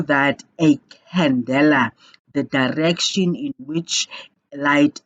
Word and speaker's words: candela: really being called a candela and it's pronounced candela as if it is khan leila in and basically it